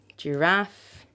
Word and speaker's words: giraffe: Another word, giraffe, technique, okay? These are words of French origin, and words that are often of French origin have the last syllable that is stressed.